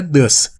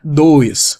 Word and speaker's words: does: Então é ele, então é does. Nota só a pronúncia, a pronúncia é does, não é dois. Muitos dizem dois, mas não é dois, é does.